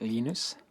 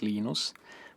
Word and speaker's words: Linus: When I speak Swedish, it's Linus. When I speak Finnish, it's Linus. When I speak English, it's Linus. And I really don't care how people pronounce my name. But Linux is always Linux.